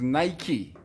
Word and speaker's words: Nike: for future pronunciation Maria it is Nike like spiky not Nike according to Nike pH